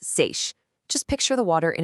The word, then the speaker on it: seiche: That's pronounced seiche.